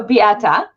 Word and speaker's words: Beata: pronounce your name because i don't want to pronounce it wrong okay so biata did i say that right yes awesome okay